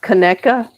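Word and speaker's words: Conecuh: So, that's how you It's pronounced Kka, which I know the spelling is really confusing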